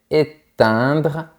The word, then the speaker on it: éteindre: Encore une fois, on a les lettres E-I-N. Donc, tu dois penser à un rectangle horizontal dans ta bouche.